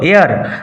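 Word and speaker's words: heir: set Malcolm দ right এয়ার উচ্চারণ লক্ষ্য করো এয়ার আপন দা থ্রোন অফ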